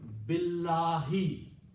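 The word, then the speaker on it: بِٱللَّهِ: doesn't pronounce this in so the pronunciation would be billahi this Aleph is not pronounced anymore okay and you can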